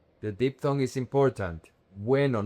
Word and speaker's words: bueno: Weno. The deep tongue is important. Weno, not bueno. It's weno. W. The deep tongue is pronounced together. The two vowels are pronounced together.